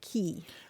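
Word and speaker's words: quay: an odd one but qua Y is usually pronounced key so it's cool thank you David for your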